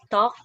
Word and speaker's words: talk: I understand why this is hard because there's actually one letter used in this English word that is really not pronounced. That's why it's not here. Teacher Amor. Ma'am, is it talk?